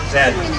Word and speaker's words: Z: First question for Dan is, how do you pronounce the last letter of the alphabet? Zed.